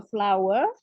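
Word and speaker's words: flour: Ya, there is a flower on your clothes. Kan tepung itu bahasa Inggrisnya tulisannya flower ya, tapi bacanya bukan flower. Bacanya sama kayak bunga gitu ya.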